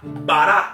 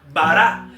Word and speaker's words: bará: Y por eso la palabra crear es la palabra bará, así con B alta como suena, B-A-R-A, acento en la última, bará.